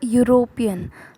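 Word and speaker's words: European: जैसे कि अ यूरोपियन। तो यूरोपियन में य आ रहा है, य इज़ अ consonant sound, that is वाई ए इज़ use before यूरोपियन।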